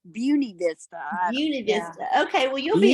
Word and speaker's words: Buena Vista: I always say Buena Vista, but they say it's Beauty Vista.